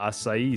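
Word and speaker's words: açaí: Man, the fruity candy sweet part is the pina asai side. That pineapple and asai berry flavor straight up. Is it pronouncedai or is it pronounced aki?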